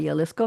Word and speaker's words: Jalisco: I'm pronouncing the J as a Y, Jalisco, Mexico.